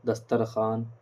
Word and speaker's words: دسترخوان: وہ واو جو لکھا جائے مگر نہ پڑھا نہ جائے، جیسے خواب، خواہش، خواہ، خان، دسترخوان، خواندگی، خان، اس میں پڑھنا، اس کی پہچان یہ ہے کہ اس کا تلفظ ادا نہیں کیا جائے گا۔ سمجھ گئے؟